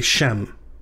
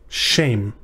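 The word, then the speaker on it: שם: the year means year shame or if you're pronouncing it very quickly and you're not carefully enunciating you might say shem shame this means name or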